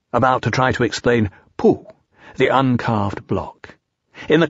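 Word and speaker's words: P'u: to in various ways poo by the way is pronounced sort of like poo but without so much ooh like the sound you make when blowing a bug off your arm on a hot summer day before we bring our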